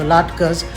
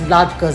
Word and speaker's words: latkes: And so most dishes that are made during Hanukkah, such as sufganiyot or latkes, are deep fried, and it's pronounced Latkes, Latkes. So it's latka for singular, latkes for plural.